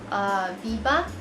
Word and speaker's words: BBIA: Okay, next I have a gel eyeliner here, and this is from the brand Biba. Yeah, I believe that's how you pronounce BBIA.